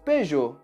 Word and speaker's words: Peugeot: Essa marca nós mantemos praticamente a mesma pronúncia original. Nós falamos Peugeot.